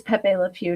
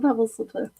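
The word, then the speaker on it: Pepé Le Pew: So, oh, it is Pepe Le Pew, not Pebbles. I just love Pebbles Le Pew.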